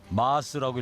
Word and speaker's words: Mars: 마르스라고 하는 곡인데요. 마르스요? 네네. 마스라고 읽어야 되는 거예요? 마스라고 해야죠.